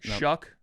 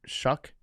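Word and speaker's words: Shough: Shuck. Shuck. Yeah. It's got a hard ck at the end. Tyler Shuck.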